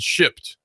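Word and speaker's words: Shipt: actually well it's it's new ish it's called shipped it's it hard to pronounce it's hard to spell Shi pt1 one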